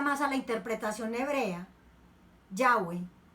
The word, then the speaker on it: Yahweh: estudiosa dice es que no se debe pronunciar Jehová, ese no es el nombre. Jehová es una pronunciación latina que se utilizó desde el siglo XVI, o sea, más bien una pronunciación moderna. Cuando escuchamos a los judíos hablar de Dios, le dicen Yahweh. Nosotros le decimos Yahvé y hemos adoptado mejor